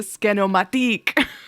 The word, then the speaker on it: Scanomatique: Wait, Scanomatic. But it's spelled Matique. French. Like Matic is MITIC. This is the Scanomatique.